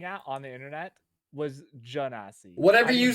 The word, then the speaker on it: Genasi: Panda, what's your argument for why it's Genasi? Because it's based off Genie.